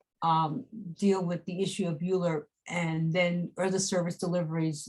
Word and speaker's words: ULURP: That was in 1975 and created the Uniform Land Use Review Procedure, pronounced ULURP, which gives the community boards the authority to review and use proposals such as zoning actions and special permits.